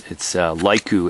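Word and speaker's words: Leuku: It's Laiku, L-E-U-K-U. That's how you spell it.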